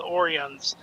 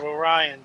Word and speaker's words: Orions: for the animated series, he thought they were called Orans instead of Orions.